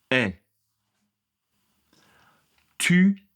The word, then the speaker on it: est: Je ne prononce pas ce T, il est silencieux.